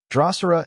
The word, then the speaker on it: Drosera: Drosera is pronounced Drosera, with the emphasis on the first syllable.